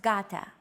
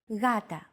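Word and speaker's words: γάτα: initial G letter but it is not pronounced Gata the first consonant is softer Gata watching contemporary videos such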